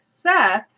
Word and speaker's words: Seth: And then, of course, you're going to meet Seth for the first time, or Set, depending on how you want to pronounce it.